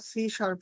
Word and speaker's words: C#: গিট আমরা গিট শিখবো এরপরে লিখেন সিশার আমরা সি শার্প শিখবো সি শার্প হচ্ছে একটা প্রোগ্রামিং ল্যাঙ্গুয়েজ ব্র্যাকেটে লিখে রাখতে পারেন স্যার একটু বানানটা বলেন সি দিয়ে হ্যাশ দিয়ে রাখেন এটাই